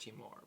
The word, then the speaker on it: Timur: I believe his first name is pronounced Timur. But Timur yeah.